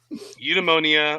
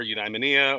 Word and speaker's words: eudaimonia: know you be you eudemonia or eudaimonia or however you want to pronounce it is a concept